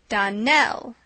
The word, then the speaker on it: Donnell: would set it right Don Nell Accent on the last syllable and sa CLA on